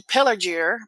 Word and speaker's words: Pelargir: And then I've traipsed to Pelargir. Pelargir? Is that a hard G? It's a hard G. There aren't soft G's in Pelargir.